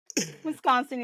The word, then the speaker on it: Wisconsin: of Wisconsin they don't really know how to pronounce it some people say Wisconsin Wisconsin Wisconsin is perfect yes all right good good good